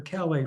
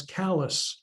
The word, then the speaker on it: Calais: Now, Calais is named after Calais, France. However, in the state of Maine, they speak a different language, as you probably already know. And they pronounce that town as Calais, Maine.